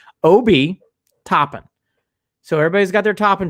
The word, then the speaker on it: Obi Toppin: hopping kobe topping i i ran to the pronunciation guide world and i listened to a couple dayton flyers game not exaggerating on youtube obi topping so everybody's got their